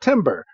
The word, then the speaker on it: Timburr: Yes, a Timber. If you're keeping track at home, that is spelled Timburr. Tim. Basically, Tim is cold. Yes. Basically think of a tree falling. Timber.